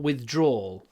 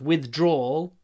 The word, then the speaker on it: withdrawal: Or withdrawal. It can be two syllables. Withdrawal, withdrawal. I think withdrawal is better, actually. Withdrawal, two syllables.